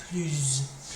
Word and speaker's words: plus: If the next word starts with a vowel, we pronounce the S, but it kind of almost sounds like a Z sound. Plus.